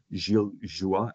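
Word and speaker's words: Gilles Joye: Canon Helis Joya or Gil Joua as his name is pronounced in French that is part of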